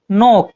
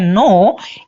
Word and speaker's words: know: नो, KNOW, यहाँ पे के साइलेंट होता है बच्चों, इसलिए इसे पढ़ते हैं नो.